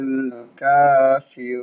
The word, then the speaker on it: الكافرون: قل يا أيها الكافرون কাফিরুন কাপের উপরে খাড়া জবর আছে, এক আলিফ টান হবে।